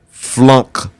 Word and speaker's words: FLUNC: and it's when you understand what is called flunk Foods now I'm going to spell that for you f l u n c